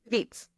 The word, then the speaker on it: Vietz: Vitz. Vitz. Okay. I almost said vets.